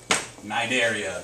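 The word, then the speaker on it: Cnidaria: are these yourself jellyfishing this is phylum nidaria the sea is silent we have to put it in there because it's there phylum Nigeria your jellyfishes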